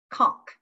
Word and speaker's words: conch: the ocean maulish mollusk conk and it says pronounced in case you're ever wondering the whole conch is